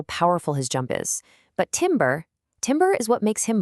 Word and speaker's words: timbre: It's pronounced "tamber".